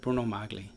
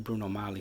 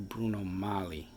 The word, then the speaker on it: Bruno Magli: be flippant really but bruno magle or bruno molly sometimes the g is silent that's pronounced bruno magli or bruno mali with the silent g but regardless my point